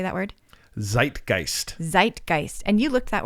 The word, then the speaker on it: Zeitgeist: Zeitgeist. Zeitgeist. And you looked that word up. What is it? I did. Zeitgeist.